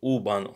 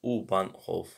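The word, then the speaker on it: U-Bahn: but the subway is uban uban I say uban off but uban St that's the the right way to say it so how do you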